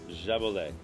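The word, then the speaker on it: Jaboulet: Then How did you pronounce this one again? Jabolet.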